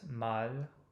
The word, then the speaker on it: mal: it's also in délivrer, but mal, I think it's a little more exaggerated at the end of a word than in the middle.